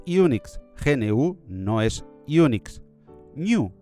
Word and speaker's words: GNU: New le gusta a Stalman que lo pronunciemos en español.